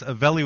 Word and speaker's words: Avelli: That's Avelli with two L's. So don't pronounce it the Mexican way, everybody, or you'll wind up in the wrong spot.